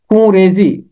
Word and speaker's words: خون ریزی: نقطہ بھی لگتا ہے، مگر اردو میں ہم اسے پڑھتے ہیں خون ریزی، نون غنہ کے ساتھ پڑھتے ہیں، اور یہ